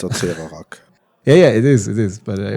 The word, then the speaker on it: Acererak: You can't pronounce it correctly. I think it's Acererak.